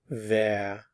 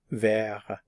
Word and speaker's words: wer: who in German is ver notice the pronunciation of the W ver who in German is ver and there are two